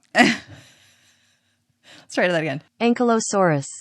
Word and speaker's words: Ankylosaurus: Maybe if I look up ankylosaur pronunciation. Okay, here we go. Ankylosaurus. Well, I said it wrong. Let's try that again. Ankylosaurus. Ankylosaurus.